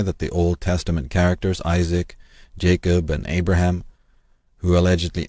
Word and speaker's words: Isaac: The syllable appears in names such as Isaac. This is correctly rendered ish suck, meaning man of the saka, man of the sages, the magi, the prophets, or the wise ones.